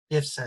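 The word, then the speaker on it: Biebrza: Biersa, así como dicen ellos.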